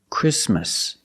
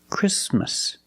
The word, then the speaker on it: Christmas: The T is between consonants, so it is silent. Link the sound s with the m. Christmas. Christmas.